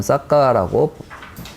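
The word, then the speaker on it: Sakka: 싹기아족인데 이 싹기아는 이제 산스크리트로 발음하면 싹기아가 되고 빨리어로 발음하면 싹가라고 빨리어로는 발음을 합니다.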